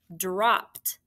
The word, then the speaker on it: dropped: having to tell you you're attaching a suffix dropped it sounds like a t but it's actually e ed and did you remember